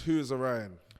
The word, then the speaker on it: WhoIsOrion: i just asked you again how do you pronounce the whole rap name uh so it's who is orion who is the right where did that come